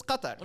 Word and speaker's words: Qatar: we are it's like the correct pronun or like the Arabic pronunciation is is Qatar right that's that makes